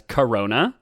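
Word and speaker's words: Karona: We've talked about a false goddess known appropriately as Corona, spelled differently, but I pronounce it like that.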